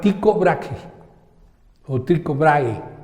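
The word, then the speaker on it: Tycho Brahe: importante que se llama tico brague tiene una H antes de la e entonces en algunas lenguas nórdicas la H se pronuncia como G en español sería psicombraje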